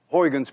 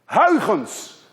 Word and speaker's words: Huygens: a genius idea which we now know as Oregon's principle at least you call it Oregon's principle